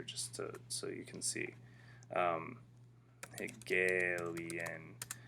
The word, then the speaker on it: Hegelian: Hegelian dialectic. Okay, that's how you say it.